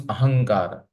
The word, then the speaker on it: ahankar: Sanskrit it is this the m is silent so it becomes ahankar it's nothing but it's